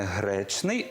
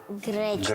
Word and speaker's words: гречний: Зверни увагу, не гречний, а гречний. Гречний. От зараз ти правильно вимовляєш це слово.